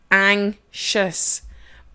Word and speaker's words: anxious: you're seeing that word it sounds like it's e ng sh us that sounds anxious but it is spelt with an X and an IO us okay so that is